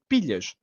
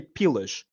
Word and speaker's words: pilhas: or did you say pilas? Oh. So he goes pilhas because he can't pronounce the l properly.